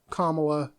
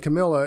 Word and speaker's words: Kamala: First, they went after Kamala. People were saying Camilla and throwing me off. Like, I knew I was saying it right the first time. I was like, Kamala.